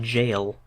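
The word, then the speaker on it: gaol: uh fairly miserable world interestingly g-a-o-l uh just close thank you um I've seen that before I never actually knew you did pronounce that like jail to I suppose I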